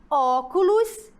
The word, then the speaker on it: óculos: E a palavra óculos? Ó, óculos. É logo no início, não é?